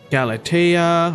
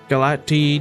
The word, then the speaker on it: Galatea: So we got Galatea, or Galati, depending on how you pronounce it.